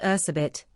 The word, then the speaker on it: Erzsébet: Elizabeth, though more accurately pronounced Erzsébet, was born in 1560 in Hungary.